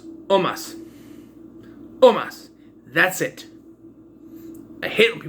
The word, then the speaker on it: Omos: And it is Omos, not Omas. Omos. Say it right or don't say it at all, right? I hear people keep saying Omas. It's Omos.